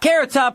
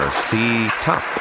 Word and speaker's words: Carrot Top: Carrot top here with 1800 call for collect calls. It's as beautifully simple as figure skating. The next skaters are Ctop and Pay.